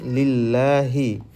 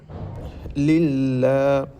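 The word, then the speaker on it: لِلَّهِ: আলহামদু আলহামদু আলহামদু এখানে কিন্তু ডবল লাম রয়েছে লিল্লাহি লাম লাম জের লিল এইযে লাম এর উপর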